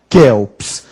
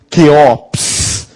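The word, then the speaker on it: Quéops: Esta é a pronúncia. Kelps. Cuidado, tem gente por aí dizendo Queops. Não existe essa pronúncia.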